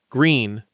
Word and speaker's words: Gruene: Number At number seven is Gruene, pronounced "green". And yes, that trips up almost every first-time visitor.